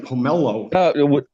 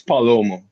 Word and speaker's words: Palomo: It's Palomo, like a Paloma.